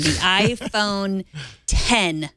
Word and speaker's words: iPhone X: take it cheaply either an iPhone 10 spelled with an X iPhone 10 spelled with